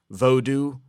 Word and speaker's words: Vodou: It's spelt nowadays Vodou, V-O-D-O-U, to distinguish because the voodoo, the way you think it's spelled, sort of has an offensive connotation now.